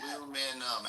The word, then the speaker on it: aluminium: It's a whole extra syllable, isn't it? Aluminum, aluminium, yeah.